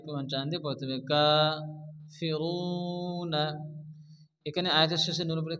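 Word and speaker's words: كافرون: জবর এক আলিফ প্রমাণ টান দিয়ে পড়তে হবে কা ফিরুনা এখানে আয়াতের শেষে নূরের উপরে কি আসছে জবর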